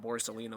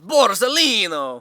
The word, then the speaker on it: Borsalino: You have to say it with that accent, though. It's not Borsalino, it's Borsalino!